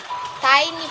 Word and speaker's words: Tiny: So, yung pag-pronounce niya po, yung tini is nagiging... Wait a minute! Who are you? So, yung tiny na nagiging tini, which is wrong, tiny po.